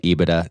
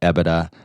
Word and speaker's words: EBITDA: there's i call it ebitda some people call it ebitda some people make the distinction between the t and the d very clear and say ebitda like